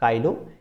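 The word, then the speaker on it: Chilo: कुछ लोग इसे चीलो इन्फेस्कैटुलस भी कहते हैं, तो वो अपना अपना प्रोनाउंसिएशन है। वैसे काइलो ज़्यादा बेटर लगता है सुनने में।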